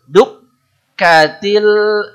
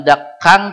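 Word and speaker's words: دكت: teing Kalla idza dukka duk katil seperti bilang motor Dukati tapi didedetkan duk Kati duk katil u jangan dak Kang tapi seperti bilang Anda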